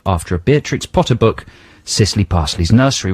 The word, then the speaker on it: Cicely: a Beatrix Potter book, Cicely Parsley's Nursery Rhymes. Is that how you pronounce Cicely? C-I-C-E-L-Y. Cicely. Cicely. Yeah.